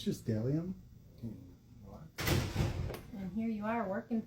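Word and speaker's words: Bdellium: The B is silent. No, it's Bedellium. But uh I used to say Bedellium all the time.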